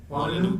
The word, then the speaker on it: Molyneux: Claudio and Amanda Molyneux. How do you pronounce that? Molyneux, okay.